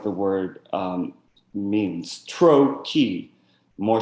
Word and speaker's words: trochee: like the word means trochee more stress on TRO than key right I I'm sorry I am trochee I am trochee I am right so trokey stress comes first I am stress comes second the other exception is